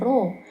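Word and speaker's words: ρ: logam yang dilambangkan dengan row yang seperti huruf P ini P ini dibacanya rho ya ro = massa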